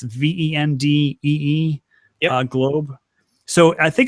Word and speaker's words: Vendée Globe: Are you familiar with and I'm not going to pronounce it right, it's French, Vendée Globe race? It's VENDEE, yep. Globe.